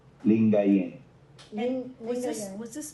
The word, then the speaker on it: Lingayen: Uh, L I N G A Y N D A G U P A N Lingayen Ling.